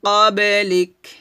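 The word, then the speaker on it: قبلك: এই কাফটা কি হয়ে যাবে? জজমল হরফ হয়ে যাবে এবং হামস উচ্চারণ করতে হবে। ওয়ামা উনজিলা মিন ক্বাবলিক, লিক লিক, এটা না, লিক লিক। এভাবে আপনার বাতাস বের করবেন।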